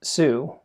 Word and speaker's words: Tsū: all the reasons I like sue and you pronounce that like the word tsunami I first want to